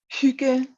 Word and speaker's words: hygge: Hygge. Yeah, the Y is like very Hygge.